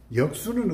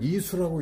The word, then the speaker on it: 易水: 그래서 내가 여기는 이수라고 읽는 것이 아니고 역수로 읽어야 한다.